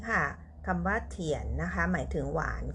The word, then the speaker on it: 甜: นี้ กัน นะ คะ พยัญชนะ ขึ้น ต้น ด้วย ตัว T ค่ะ ออก เสียง เธอ สระ ผสม 3 ตัว ด้วย กัน ค่ะ i a นะ คะ ออก เสียง เอียน เสียง วรรณยุก ที่ 2 ไว้ บน ตัว a นะ คะ ผ่าน กัน ค่ะ ทุก คน เธอ เอียน เทียน เทียน เถียน เถียน หมาย ถึง หวาน ค่ะ